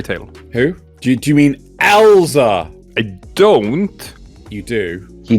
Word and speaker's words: Elza: And you see him stood in front of Elsa's grave. And it has ELZA, right? As it is pronounced, Elsa!